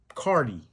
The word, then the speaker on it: Carti: Carti, that rhymes with party.